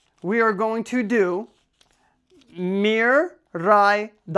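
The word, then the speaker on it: Miraidon: are going to do Mir Ron Mir Ron not Mir Miran Miran Mir ran Miron Miron scarlet and violet legendary Miron we're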